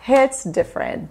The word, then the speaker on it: hit different: next one Hit different primeira coisa não é hits não é hits a gente fala hits hits hits different você percebeu que o t aqui quase não é pronunciado Ó hits hits different